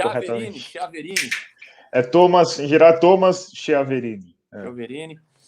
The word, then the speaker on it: Chiaverini: É raro pronunciarem corretamente. Chiaverini.